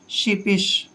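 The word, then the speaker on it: sheepish: मात्रा पढ़ते हैं, और एस एच का उच्चारण शे करते हैं। शिपिश।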